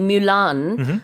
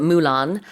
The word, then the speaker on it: Mulan: In the animated movie Mulan, or is it Mulan? Either Both pronunciation. are accepted, I think.